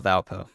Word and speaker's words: Valparaiso: there we go yeah let's uh let's call Valpo let's call Valpo Valparaiso El parizo Valparaiso thank you thank you thank you thank you